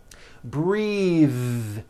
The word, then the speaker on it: breathe: like in bathing suit breathe same thing breath is a noun take a breath unvoiced but when you change it into a verb the vowel changes and it becomes breathe i am breathing with